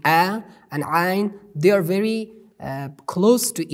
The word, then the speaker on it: ع: We pronounce it from middle of our throat, like ha, that we just I just explained it to you.